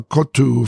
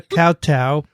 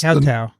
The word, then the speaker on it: koutou: Kia ora koutou Pongaroa. Right. That's Kowtow.